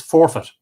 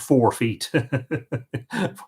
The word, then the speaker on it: forfeit: The sheep is forfeit. Yes, Forefit, not 4 feet. Forfeit, yes.